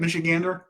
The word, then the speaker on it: Michigander: Michigander?